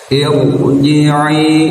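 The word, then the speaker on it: ارجعي: harus dibaca tebal ya bukan Ir tapi Ir ya harus ditebalkan rumusnya ro diawali Hamzah wasal harus ditebalkan ya walaupun dibacanya jari kasrah Ir biasanya tapi karena ini hamzahnya Hamzah wasal maka dibacanya harus tebal rnya irjii ya irjii ada tanda alis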